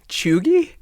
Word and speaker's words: cheugy: is chugi c h e u g y choogie is that how it's pronounced chugi correct now what is chugi essentially the word